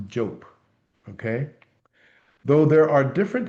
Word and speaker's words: Diop: Last name spelled Diop and pronounced Jope.